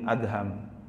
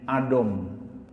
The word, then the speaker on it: Adham: Ada yang membaca Ibrahim bin Adom karena DH dianggapnya dhad gitu. Ibrahim bin Adam, idom Khalid gitu ya. Gara-garanya dhama = D gitu. Jadi setiap yang dha dibacanya D sama dia. Ibrahim bin Adam. Nah, inilah kadang-kadang ee enggak membedakan antara A dengan O itu bahayanya di situ tuh. Ee jadi Ibrahim bin Adham.